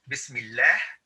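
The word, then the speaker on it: بسم الله: and the reason is this is pronounced as bismillah is because it has a kasra okay but if you're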